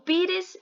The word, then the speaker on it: pires: Pires, pi é minha sílaba tônica. Então, res é átona.